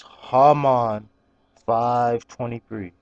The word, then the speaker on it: JAMON523: and uh if you don't know how to pronounce my name it's harmon 523 okay remember ha did mine in 523 now